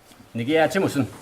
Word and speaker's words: nīhithaw-ācathōhkāniwin: Okay, in TH dialect it's ācathōhkāniwin. You need a long A on the second one on the end.